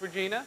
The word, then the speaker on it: Regina: to say hello Regina it is Regina it's pronounced Regina yes it is you were voted most likely